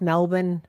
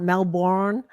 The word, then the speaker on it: Melbourne: First of all, I love that you pronounce Melbourne correctly, not Melbourne.